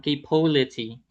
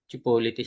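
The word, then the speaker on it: Cipolletti: Last case side slope ng capolity. Capolity pronunciation yan ah. Chipulete nga ako dati prof namin dati. Chipolity sabi kasi nga daw parang ano ba?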